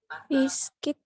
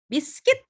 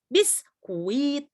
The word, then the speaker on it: biscuit: Biscuit. Biscuit, good. Dia gini bacanya ya, biscuit. Jadi sama, ini adalah silent letternya U, jadi bukan biskuit, bukan.